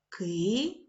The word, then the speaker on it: киця: склад падає наголос киця наголос падає на перший склад чудова робота а Ми